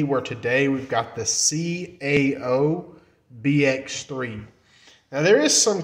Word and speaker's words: CAO: some misconceptions about the name some call it cow or whatever like that and I call that KO because I'm not really sure how they're wanting to pronounce it but it's it's actually CAO I didn't know for sure that that would